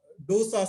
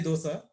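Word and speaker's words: Doose: disappointing the other seizure type is called uh Dosa syndrome it's not do it's pronounced as DOA we can REM remember idly Dosa it's slightly at a later age two to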